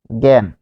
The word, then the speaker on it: জ্ঞান: তাহলে জ্ঞান যখন আপনি লিখছেন তখন এখানে আপনি পাচ্ছেন গ এবং গ এর মতো। ঠিক আছে? তাহলে এখানে পাচ্ছেন গ এর মতো, উচ্চারণটা গ চন্দ্রবিন্দু এর মতো।